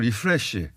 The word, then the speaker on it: 리프레시: 그러니까 이렇게 변화를 줘가지고 팀이 좀 리플레시 될 수 있는 그런 가능성을 좀 보여줬고 이승우 선수도 제가 봐서는 일을 안 먹고 리플레시가 아니고 뛰더라고요. 리프레시. 아 예. 불러주는 데가 없다 보니까 발음까지. L과 R을 구분해 주시고 그렇게 알고 계셨던 거 아니에요?